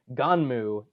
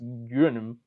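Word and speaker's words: Gunnm: which is in Japan, it's called Ganmu, even though it looks like it's pronounced Gunm.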